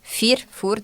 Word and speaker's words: Führ: A gente até tava falando antes, é, sobre a pronúncia do sobrenome, né, que é tem, para quem é da região sabe, né, tem o U com a o trema, né? Então, é o fur, mas tu acaba sendo